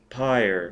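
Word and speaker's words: PyrE: dham py capital p y r capital e pronounced py as in funeral P tell Denham we've located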